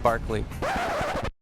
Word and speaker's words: Berkeley: It's actually supposed to be pronounced Barclay.